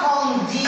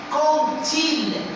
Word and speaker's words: quand: dit plusieurs fois que lorsqu'on a quand suivi de il ou bien de elle on dit pas quand dit ou bien con d'elle le d ici va se prononcer t on dit compil ou bien compelle cont